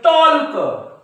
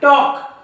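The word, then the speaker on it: talk: या शब्दाला कसं वाचतील टॉल्क पण हा टॉल्क नाही टॉक कारण की का के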